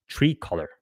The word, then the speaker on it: Tricolor: Fifth Third disclosed its exposure to Trilocor in September, saying it expects to take $170 million to $200 million loss on so-called asset-backed loan to Trilocor. Tricolor.